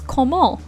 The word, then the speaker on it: comment: how instead and so how you say how in french is komol which is spelled c-o-m-m-e-n-t and so this production